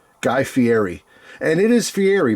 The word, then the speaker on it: Fieri: And it is Fiery, by the way. I said Fiieti, I think, in my video.